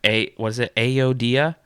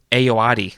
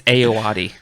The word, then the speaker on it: Ayoade: and this is Richard Ayodia? No, Ayoade. We need I to said get it better backwards. with our names. I wrote it out phonetically. I had to just look at it. Nice. It's Ayoade. Okay.